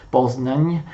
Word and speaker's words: Poznań: Nel 1310 si ribellano i tedeschi di Poznan, che in tedesco si dice Posen, in polacco si pronuncia Poznań, e nel 1311 si sollevano anche i tedeschi della piccola Polonia guidati dal vescovo di Cracovia.